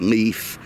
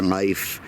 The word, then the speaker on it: Life: You know, people say his name is Leaf. He says it's Life.